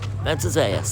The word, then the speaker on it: Matanzas: as we make our way to Fort menas menas that's how you say it so Fort menas